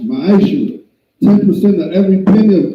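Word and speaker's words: מעשר: You can find this in Numbers chapter 18, verse 21, and Malachi chapter 3, 8 through 10, which means 10th in Hebrew, and is pronounced Ma'ashra.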